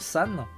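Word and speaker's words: 三: alors ça sé crréit avec le caractère 3 en japonais qui se prononce San et c'est un instrument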